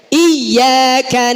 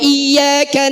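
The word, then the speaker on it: إياك: Yang kedua adalah pengucapan tasdid di huruf ya di ayat keempat. Alhamdulillahirabbil alamin arrahmanir rahim maliki yaumiddin, ayat kelima. Iyyaka na'budu wa iyyaka nasta'in. Ini hati-hati, banyak yang meninggalkan tasdid di kalimat ini.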